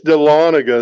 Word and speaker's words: Dahlonega: I've heard some people pronounce it Dahlonega, but I think it's pronounced Dahlonega. It's Dahlonega, that is correct.